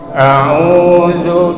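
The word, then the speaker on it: أعوذ: Nah, ta'awuz itu a'udzu. Jadi hamzah ain. A-nya itu huruf hamzah. Hamzah tuh buka aja mulut dengan lebar, A. Jadi suaranya jangan sampai lari ke hidung.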